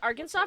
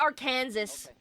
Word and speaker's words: Arkansas: I didn't know how to pronounce Arkansas for the longest time. Yeah, it looks like Ar Kansas. That's how I would pronounce it, but I feel like Arkansas is how you do it.